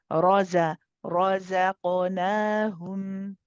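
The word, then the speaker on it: رَزَقْنَاهُمْ: But you lost the ra. The ra got made light. So probably please practice this one, yeah? And we'll do it one more time, inshallah, for you. So say it slowly and just keep thinking, okay, heavy, now light, now heavy, now light. Ra, start off heavy.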